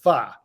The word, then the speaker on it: pho: if you go get the Vietnamese pho pronounced far it's like 15 bucks